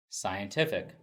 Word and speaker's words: scientific: means please note that only adjectives will stress the third syllable scientific the next word is